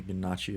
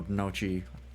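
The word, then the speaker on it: gnocchi: bags okay there's a ganachi of pasta I've heard of ganachi or nochi I'm assuming you don't pronounce the G I don't know what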